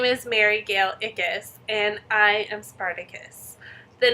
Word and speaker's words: Ickes: distracted sorry um my name is mary gayle ickis and i am spartacus the name comes from my last name it's spelled i-c-k-e-s so i spell it spartacus a